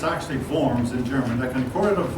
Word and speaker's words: Worms: Eventually, now this looks like it should be pronounced Worms, but it's actually Worms in German.